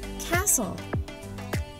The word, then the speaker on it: castle: Tapi cara membacanya bukan castle ya, bukan castle. Kalau bukan castle, apa dong? Yang benar adalah castle.